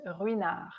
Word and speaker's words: Ruinart: Next, you have another silent letter is Ruinart.